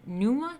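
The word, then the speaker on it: pneuma: I guess called God how do you say this P and E um it's like pneumonia of its numa numa the divine spirit in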